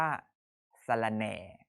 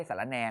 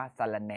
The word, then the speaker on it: สะระแหน่: ที่ 4 อ่าน ว่า สะระแหน่ นะ ครับ ไม่ ใช่ สาระแน นะ อ่าน ว่า สะระแหน่ นะ ครับ อ่าน ให้ ถูก นะ คำ นี้ สะกด ส